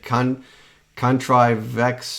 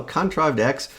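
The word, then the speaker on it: ContrivedX: I think the first time I said Contrivex or Contradex. I said it wrong, something like that. And I realized it's like, oh, Contrived X.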